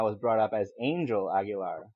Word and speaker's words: Aguilar: So if you start off with, actually, it's pronounced Aguilar, your first impression is you take yourself too seriously, and Yeah.